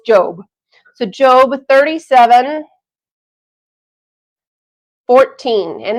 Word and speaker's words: Job: word job but because it's a name it's pronounced job so job 37 14 and that means it's